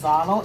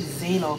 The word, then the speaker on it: Zalo: Chuggacarm, we read his name as Zalo. It's actually Zalo because it rhymes with Halo.